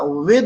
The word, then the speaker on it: with: ऐसे ही कुछ लोग बिथ कहते हैं, बिथ, तो बिथ नहीं होता, विद होता है, विद, WITH, विद पढ़ते हैं।